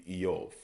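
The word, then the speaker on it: Iyov: They pronounce as Iov. Iov, okay, or Eov, okay. The I sound is usually pronounced as an E opposed to an I, so it would be Eov, okay.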